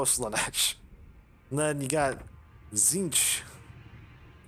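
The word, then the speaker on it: Tzeentch: and then you got zinch who's the the trickster uh you can tell by having a silent t in his name he's a tricky one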